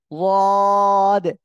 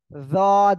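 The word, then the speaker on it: ض: জিহ্বার গোড়ার কিনারা উপরে মাড়ির দাঁতের গোড়ার সঙ্গে লাগিয়ে অক্ষরটা উচ্চারণ হবে। আর কেউ জদ এমন বলবেন না, আবার কেউ জিহ্বার আগায় দুই দাঁতের গোড়ার সঙ্গে লাগিয়ে উচ্চারণ করবেন না, ঠিক আছে?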